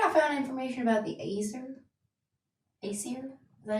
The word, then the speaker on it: Azer: Where could I find information about the Acer? Acer? Is that how you say it? Yeah, Azer.